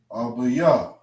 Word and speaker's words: Abba Yah: Okay, this is how we pronounce it. Abba Yah.